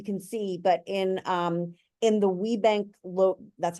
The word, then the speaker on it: WeBank: Now, this color palette is, I don't know if you can see, but in the WeBank that's how that's pronounced, WeBank logo, inside that C is like, there's like a little graphic inside the C.